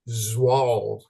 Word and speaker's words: Zwol: The way to pronounce Walter's last name is Zwol, like it's a Zawal.